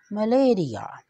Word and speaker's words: malaria: The original pronunciation is मलेरिया।